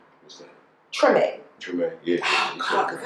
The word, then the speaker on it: Treme: Treme.